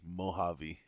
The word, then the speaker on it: Mojave: to glam to and I figured out that this is the Mojave I wasn't pronouncing it properly should have been thinking of jalapeno but yeah so like